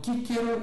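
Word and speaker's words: Cicero: Ah, com um grau com uma aproximação muito grande de que o C na antiguidade era pronunciado como um K sempre. Então eles liam kíkero, eles liam quiste, eles liam mar, aliás, perdão, eles liam quista, eles liam marquelino, né?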